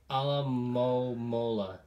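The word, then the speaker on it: Alomomola: I can pronounce that for you, sir. It's Alamomola.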